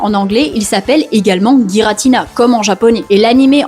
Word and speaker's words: Giratina: y a aussi Giratina car il y a des gens qui l'appellent Giratina mais on ne peut pas leur jeter la pierre vu que son nom commence par un G et un I qui se prononce J en français.